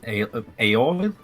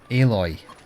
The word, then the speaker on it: Aloy: It's pronounced you need- Aloy. Hello, my name is Aoil? Aloy. Oil? I mean, it is spelt Oil. like alloy missing one L, but you're supposed to play down the obvious metallic pun.